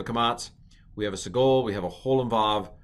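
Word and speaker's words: סֶגּוֹל: This is called a sagol. Not Sigourney Weaver, but a sagol.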